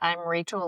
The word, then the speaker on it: Raechl: I'm Rachel, but it's spelled funny. It's Raechl.